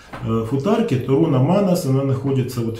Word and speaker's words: Манназ: Вот часто говорят «Манас», но я предпочитаю все-таки придерживаться тех правил ударения, которые вот в скандинавских языках присутствуют. Там, как правило, в большинстве слов ударение ставится на первый слог, поэтому я так произношу.